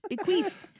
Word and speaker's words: bequeath: Also, the pronunciation spelling is BIH, B, and then queeth, KWEETH. Bequeath.